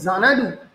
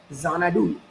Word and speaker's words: Xanadu: chesta kori, আমরা দেখবো যদি আমরা প্রোনাউন্স করি জানাডু, জানাডু, the word জানাডু begins with ex. আমরা যখন রিড করছি, আমরা যখন জোরে বলছি জানাডু, ইট এন্ডস উইথ জেড.